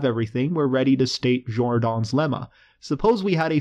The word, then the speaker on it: Jordan: complex variables known as jordan's lemma i used to believe that it was pronounced jordan but it's actually a french name so it's pronounced jordan anyway let's start by